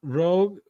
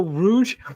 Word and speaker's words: Rouge: I'm not Rogue. No, Rouge. Just the fact that it's Rouge, not Wait, that's how Yeah, that is how it's spelled.